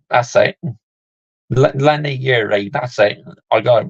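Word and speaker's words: Leny Yoro: yeah but I can't quite recall how you pronounce his name in the moment but Lenny euru that's it Lenny Yuri that's it I got right Lenny Yuri the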